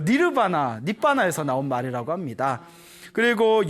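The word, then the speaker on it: निर्वाण: 사용할 때 원래 열반이 저 인도 산스크리트 어로는 니르바나 합니다 니르바나 니르바나 하고 저 난방에서 사용하는 팔리어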